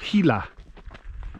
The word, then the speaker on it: Gila: dwellings we have learned it's pronounced with an h not a g at all i don't know i guess that makes sense uh gila it's the gila cliff